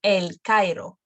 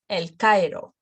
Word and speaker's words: El Cairo: And they go also, the strong letter can go before the weak letter. For example, El Cairo. El Cairo. Two letters, one syllable. El Cairo. Heroico. Heroico. Beirut. So it's pronounced quicker, and it's not the full length.